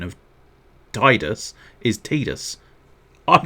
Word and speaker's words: Tidus: difference to me um i know the correct pronunciation of titus is tidus i'm not calling him tidus titus is a silly name titus makes a lot